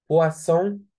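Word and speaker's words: poisson: دريكسيون، دريكسيون، فوتو، فوتو، بواسون، بواسون. ايه الوا دي يا جماعة؟ ايه الوا دي؟ بص يا سيدي، الاو لو جه وراها ايه تنطق وا.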